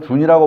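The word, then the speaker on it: 屯: 그리고, 예, 둔이라는 말은, 다른 데는 보면 준이라고 발음을 합니다. 준이라고 하는데, 우리는 둔이라고 배워서 준이라고 듣고 둔이라고 입에서 나와야 됩니다. 준이라고 듣고. 여기 저 진실 둔자인데, 진실 둔자인데, 발음이 준이라는 발음도 있습니다. 준이라는 발음.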